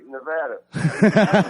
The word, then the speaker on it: Nevada: You said it right, Nevada.